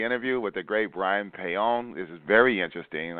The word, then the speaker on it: Paone: I would say, though, that Paone is probably the most common mistakenly way to say my name, but it's actually pronounced Paone because in Italy, in Italian, they